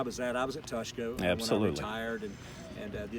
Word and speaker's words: Tushka: You properly pronounce Tuska. Tuska, yes. It's Tushka, Tuska.